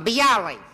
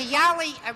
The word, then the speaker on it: bialy: Is that the way you pronounce it? A bialy. Yes. A bialy originated in a place called Bialystok, which used to be part of Poland, then became part of Russia.